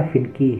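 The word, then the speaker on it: finicky: ऐसे ही एक वर्ड और है फिनकी, शुद्ध उच्चारण इसका फिनकी है, तो इसको इसका मतलब भी चिड़चिड़ा होता है।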